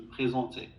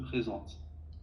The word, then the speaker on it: présente: Par exemple, quand tu dis je me présente, tu dis je me présentais.